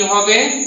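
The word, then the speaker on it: who: এই জায়গাতে যখন হু উচ্চারণ হলো, ডাব্লিউ পরে এইচ আছে, এই জন্য ডাব্লিউ কি থাকতে হবে, সাইলেন্ট থাকতে হবে।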